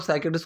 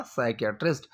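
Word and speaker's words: psychiatrist: पी की इसमें pronunciation नहीं होती है, ये चीज़ आप याद रखना। सो आर यू अ साइकेट्रिस्ट।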